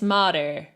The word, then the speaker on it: mare: Notice how the pronunciation of mare, it's not like that open air sound, it's mare. The tongue is retracted.